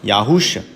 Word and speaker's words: Yahusha: It's pronounced Yahusha. In English, Yahusha.